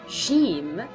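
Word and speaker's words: ج: Then we have the letter jim. It is just like a j in English. So it is j, pronunciation is j.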